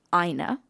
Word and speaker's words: Ina: You'd think a village like Ina, and I have checked, that is how I pronounce it, INA, in Illinois, which